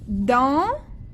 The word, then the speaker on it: dans: Dans, le S, on ne la prononce pas.